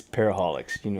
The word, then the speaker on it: Para-holiX: Yeah, I would say it's Para-holiX. Yes. just plain Para-holiX.